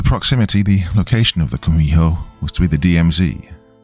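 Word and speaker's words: 구미호: In Japanese, you've probably heard of it as kitsune, though in Korean it's pronounced kumiho.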